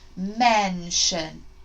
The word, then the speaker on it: mention: Then put shun at the end. Mention.